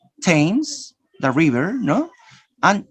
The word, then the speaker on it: Thames: ta idi stopped washed ta is a spell th in a few names for example you have thailand james thomas and th thailand thames thomas generally this is spelling